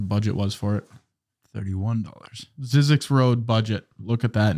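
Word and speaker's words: Zyzzyx: wonder what the budget was for it 31 zizzix Road budget look at that Nathan I'll spell it for you too z-y-z-z-y-x Road which is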